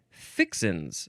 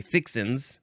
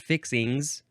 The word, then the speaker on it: fixins: Number 2 is plural, And it says often fixins. That's how you often pronounce this one when it's pluralized. You say fixins, not fixings. Fixins.